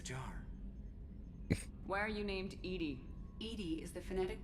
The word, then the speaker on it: EDI: airlock is a jar why are you named Edie Ed is thetic pronunciation of e di that is an acronym